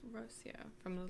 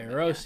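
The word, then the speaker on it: Rocío: I am Puerto Rican and HB chat wifey is pronounced Rocio. Is that correct? Rocio. Okay, Rocio.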